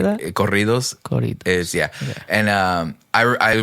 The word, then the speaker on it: corridos: So it's funny because I there's this stuff in like Spanish music called corridos, and it's like this. How do you say that? Corridos.